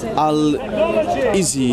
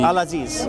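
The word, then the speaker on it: العزيز: How do we pronounce that in Arabic? Would you know how to say that? Which one? Al-Izi. Al-Aziz. Yeah, Al-Aziz.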